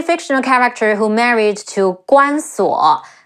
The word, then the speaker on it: Guan Suo: Bao Sanniang, she's a possibly fictional character who married to Guan Suo. Ge Wu An Guan Si Wu O Suo Guan Suo, a possibly fictitious son of Guan Yu.